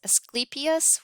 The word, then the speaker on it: Asclepius: Um, but this came from, I think you pronounce it Asclepius, which is a Greek god for healing, and